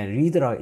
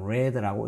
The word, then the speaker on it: read: 이때는 과거 분사인데 read라고 읽으면 안 되고 read라고 읽어야 됩니다.